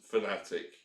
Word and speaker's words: Fanatec: there but tighter yes they do pronounce themselves as fanatic you're quite right this